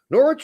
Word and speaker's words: Norwich: hot black uh deato norch is pronounced like porridge with an N no we we know